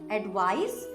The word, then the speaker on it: advice: हमारा third word pair है एडवाइस एंड एडवाइज। एडवाइस में एस साउंड आता है और ये एक नाउन है।